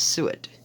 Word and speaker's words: suet: you say that word it's not said like black soot from charcoal it's suet i think good lord there is